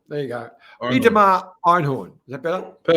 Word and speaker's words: Einhorn: So I love the accent you put on when you try and attempt to pronounce someone's name. It's this innocent sort of Inhorn like don't criticize me.